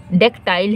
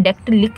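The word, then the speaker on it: dactyl: और देखिए ये क्या है डेक्टाइल है, ये डेक्टाइल है, इसका प्रोनाउंसिएशन डेक्टलिक नहीं है, डेक्टाइल।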